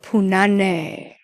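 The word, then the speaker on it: punani: Punane. You gota say it right. You gota say punan. That's the way you got to say it.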